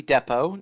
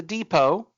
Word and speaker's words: depot: it's called Aniston Army Depo not the depot but Depo it's spelled the same just pronounced differently it's like uh John